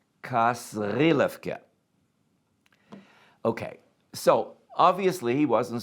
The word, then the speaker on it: Kasrilevke: Please note the correct pronunciation. Kasrilevke.